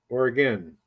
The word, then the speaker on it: Oregon: Oregon. Yeah, that's how you pronounce it.